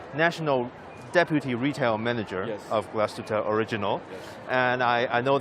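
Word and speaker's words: Glashütte: Europe and this one's actually from Germany uh class tuta right did I pronounce it right yes right yes this is uh George here the national Deputy retail manager of glastuta original and I I know that you have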